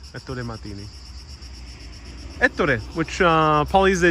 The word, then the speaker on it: Ettore Martini: How do we pronounce his Ettore Martini. Ettore Martini.